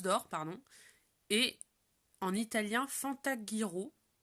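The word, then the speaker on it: Fantaghirò: Et en italien, Fantaghiro. J'imagine que ça se prononce comme ça parce que c'est GH.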